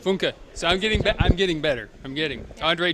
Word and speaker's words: Funke: Funke. Funke. You said it right? Funke.